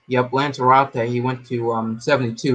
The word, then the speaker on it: Lanzarote: How you pronounce it? Lanzarote. Yep, Lanzarote.